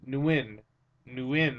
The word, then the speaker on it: Nguyen: Nguyen, that's how you pronounce it. Not win, Nguyen.